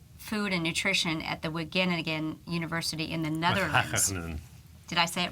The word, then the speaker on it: Wageningen: the top Institute Food and Nutrition at the Wageningen University in the Netherlands. Did I say it wrong? Well, how do you say it? Wageningen.